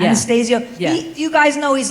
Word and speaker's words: Anastasio: Is that how you pronounce it? Anastasio, yeah. Anastasio.